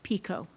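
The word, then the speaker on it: pekoe: Are there any alternate pronunciations? No. Pico.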